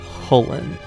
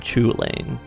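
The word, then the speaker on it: Cú Chulainn: know the name of, Cuchulainn. Yes, that is more often pronounced Hullen. Not Chulainn, like a lot of us often want to read.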